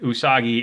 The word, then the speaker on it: Usagi: So if you're not familiar with Nihonga, Usagi is Japanese for rabbit, which is why I believe USAGI is supposed to be pronounced that way.